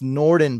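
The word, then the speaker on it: Nordin: oh you saw him on yahoo yeah it's norden by the way n-o-r-d-i-n um so hey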